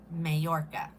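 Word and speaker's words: Mallorca: I'm reading these making spell it M A L L O R C A Mayorca. The L. Two L's make the Y sound is what I've been told.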